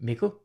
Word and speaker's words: Mikkel: If you are new here, I am Mikkel, rhymes with pickle, and I'm an indie hacker, sort of person.